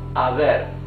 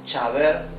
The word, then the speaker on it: haber: we can see that it begins with letter H. Letter H, A, B, E, R. However, when we read it, we say haber, right? We don't say chaber or haber.